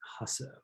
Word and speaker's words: Jasso: The J is silent. Hasso.